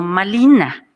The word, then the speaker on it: Malina: les ocurrió llamarla Marina le dieron el nombre de Marina y la r no se pronuncia en nahat ent se convirtió malina y en vocativo en